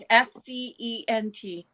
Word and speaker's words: scent: this one's way worse which letter in sent is the silent letter probably yeah it would be the eye wouldn't it s-c-e-n-t scent like smell Oh I thought okay